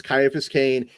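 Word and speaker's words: Ciaphas Cain: Morningington Crescent says, "You pronounced the name wrong. It's Kaiaphas Kane, hero of the Imperium."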